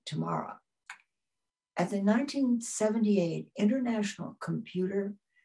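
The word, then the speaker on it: TIMARA: He founded and chaired the Technology and Music and Related Arts Department in the Conservatory of Music at Oberlin College, pronounced Tamara.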